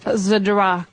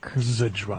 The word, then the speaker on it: Zdrok: How do you I pronounce use it this often. beautiful last name, by the way, man? Zdrok. Zdrok.